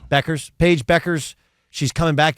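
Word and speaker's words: Bueckers: Paige Bikers. Is it Bikers? Is that how it's pronounced? Yeah, how's that pronounced? Beckers.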